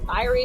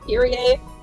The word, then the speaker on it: Kyrie: I just read it as Kyrie in my head, but I think it's supposed to be pronounced Kira.